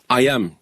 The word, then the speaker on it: H2YAM: raison pour laquelle la société IAM mais ça s'écrit H2Y am c'est attaqué à ce